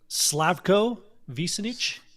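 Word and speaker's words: Slavko Vinčić: Slavco Visenich, I believe, is how it's pronounced.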